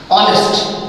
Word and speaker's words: honest: Second thing, there are some words where you find that the first letter of the very word is silent, and it produces the sound of a vowel, like honest, H-O-N-E-S-T.